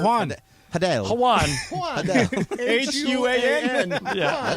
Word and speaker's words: Juan: Juan. H-U-A-N. Yeah. That's with a J. The J sounds like an H anyway.